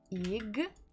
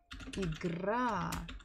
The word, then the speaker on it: Игра: Игра. Игра. Игра. So here we stress буква А. Ударение падает на букву А. The stress falls on letter A.